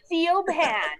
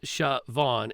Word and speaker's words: Siobhan: name to people because it's siobhan with the gaelic spelling and like as often